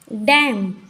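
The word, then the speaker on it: damn: बोलते हैं हम ऑटम डैम यहां पर भी एम और न साथ में आए दोनों साथ में आते तो न साइलेंट होता है हाम यहां पर भी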